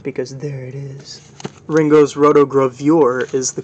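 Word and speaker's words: Rotogravure: hype sticker present because there it is ringo's rotograph viewer is the correct pronunciation and it's original no magnifying glass included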